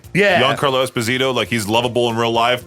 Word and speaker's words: Giancarlo Esposito: Giancarlo Esposito, he's lovable in real life, but in Breaking Bad and Far Cry 6, a whole bunch of roles.